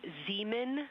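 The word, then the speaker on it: Zeman: We believe that that is Zemen Crater. Zemen. Okay. And can you say the first letter? I may be pronouncing that wrong.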